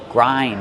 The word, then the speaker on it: grind: Grind. Use the long I like find and mind.